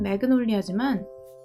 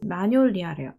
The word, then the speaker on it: magnolia: 그래서 영어식 발음은 매그놀리아지만 프랑스식 발음은 마뇰리아래요. 마뇰리아.